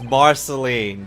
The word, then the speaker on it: Marceline: wasn't she and yeah you said the name wrong her name is Marceline there we go I'm